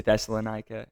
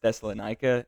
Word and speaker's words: Thessalonica: and his team acted when they came to Thessalonica. And by the way, I just learned that it's pronounced Thessalonica and not Thessalonica.